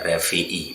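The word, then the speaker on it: רביעי: Sedangkan di modern biasanya menggunakan pengucapan antara b depan dan belakang beda, makanya dibaca revi'i, bukan b tapi v itu ya. Di yom rebi'i dibaca yom revi'i.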